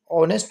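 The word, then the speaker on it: honest: ही इज ही इज ऑनेस्ट मैन ये जो ऑनेस्ट मैन है यहां पर एच साइलेंट है इसमें एच साइलेंट है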